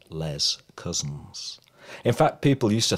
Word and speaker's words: Les Cousins: It was not known by its French pronunciation, always the very anglicised Les Cousins.